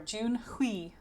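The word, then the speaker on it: Junhui: That's how you pronounce his Chinese name. Or Junhi in Korean.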